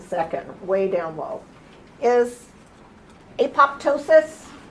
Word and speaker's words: apoptosis: way down low is apoptosis it's a Greek word the Greeks say apoptosis the rest of the world does the P is silent and call it a